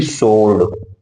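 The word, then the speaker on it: sword: इसी तरह से यस WORD लिखा गया है तो यस के बाद डब्ल्यू आ गया तो हमारा डब्ल्यू बोला नहीं जाएगा, साइलेंट हो जाएगा, तो SORD इसको बोलेंगे सोर्ड।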